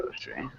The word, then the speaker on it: grocery: Grocery. Sorry. Grocery. Yeah. So we Grocery. wouldn't Grocery. close. We wouldn't really have that middle part. Oh, sorry. Um, so it's more like grow, tree. So two syllables, grocery.